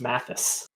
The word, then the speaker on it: Mathis: right now he's not Marty's surname is pronounced Mathis yep that is correct is that a flop